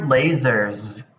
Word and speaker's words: lasers: serious next is lasers the word lasers has a z sound but when you spell or read the word you will see s so we use an s but we make a z sound and that's a